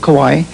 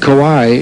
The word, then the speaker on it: Kauai: I was born in Hawaii, on the little island of Kauai. And I was raised here also. You said Kauai, and Don Ho told me it's pronounced Kauai. That's the way Don pronounces it.